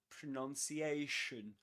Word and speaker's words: pronunciation: Many people think that as the noun is pronounced or as the verb is pronounced, the noun pronunciation is pronounced or is said pronunciation. But actually um that is not the case. We say pronounce pronounce on the one hand that's that's the verb and the noun is pronunciation.